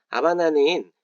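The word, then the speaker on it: Habana: 아바나 이미지 혹시 떠올리실요 아바나는 스페인어로는라 아바나라고 부릅니다 지금 스펠링을 보고 계실 텐데요라 아바나 아고 할 때 h n 무음입니다 그래서 하바나라인 어 쿠바의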